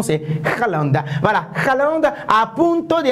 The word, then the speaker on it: Haaland: Voilà, la belle prononciation, c'est Haaland.